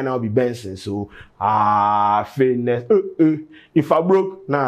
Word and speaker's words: BNXN: Buju say his name right now be Benson.